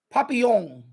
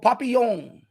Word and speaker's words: Papillon: with Steve McQueen Papillon I'm trying to pronounce it French Papillon and he was a